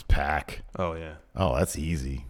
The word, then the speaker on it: Pac: I told you how to say my name. Yeah, it's Pac.